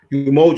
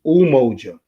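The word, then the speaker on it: Umoja: first day would be a lot of people pronounce it your emoji because it's pr because it's spelled you m o j a but it's ooh mojo and that's talks about unity it talks about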